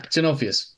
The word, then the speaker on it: Genovius: Steps in and says, sorry, did you just say my name wrong? It's entirely possible, Janus. Just making it's Genanonovius. Yeah, Genovius. Got it.